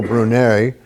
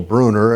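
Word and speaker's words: Brunner: Speaking of climbers, this one's best known as a climber, Cecile Brunet, and I have pronounced that one correct because I used to always call it Cecil Bruner, and a good friend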